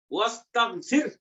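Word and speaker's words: واستغفر: এনা আগে ওয়াও আসাতে ইস্তাগফিরের আলিফটা হামজাতুল আসল এটা অনুচ্চারিত থাকবে। ওয়াস্তাগফির, আর ফিরের সাথে হু আছে এখানে, এটা উচ্চারণের নিয়ম হলো ওয়াস্তাগফির, ওয়াস্তাগফির।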